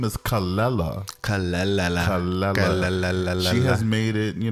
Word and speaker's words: Kelela: I love a newbie too her name is calella she has made it you know know that that is how it's pronounced people would normally pronounce it khalila oh see or Canada or someone else on